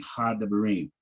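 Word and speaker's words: הַדְּבָרִים: If Shiwas are back to back, the first Shiwa is silent, the second Shiwa is vocal, and it's always the short vocal. So it'd be Hadebarim.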